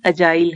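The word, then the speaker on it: agile: वैसे अगर इसको देखें तो ये अगाइल है, लेकिन इसकी सही प्रोनाउंसिएशन अजाइल है, ज की साउंड आएगी, ग की नहीं।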